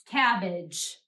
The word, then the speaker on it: cabbage: we're reading that's because AG is usually what we call an unaccented syllable an unaccented syllable is said more quietly and more quickly than the other syllables in a word we are going to